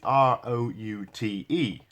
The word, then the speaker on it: route: you but the word root is r-o-u-t-e and it is pronounced root in English in American it's pronounced route for some reason I